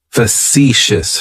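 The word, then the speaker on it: facetious: describes me as factious fous has three syllables and the stress is on that second syllable it's like you're just saying the letter c for C that first syllable has that schah that uh sound fous fous fous means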